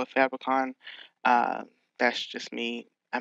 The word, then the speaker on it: favicon: so also fabric on it stands for favorites icon so it might actually be pronounced fave icon i just naturally call it fabicon uh that's just me